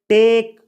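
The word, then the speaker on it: talk: अगला वर्ब है टॉक इसमें एल का उच्चारण नहीं किया जाता है इसको बोला जाता है टॉक टॉक यानी बात करना टॉक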